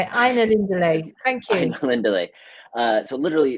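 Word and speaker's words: Ainulindalë: Aina Lindale.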